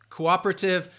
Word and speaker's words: cooperative: so again uh Cooperative I would say some people I'm trying to think of British Cooperative they might say that o sound more in that first syllable Cooperative but I'd say Cooperative that stresses on that second syllable Cooper Cooperative cooperative and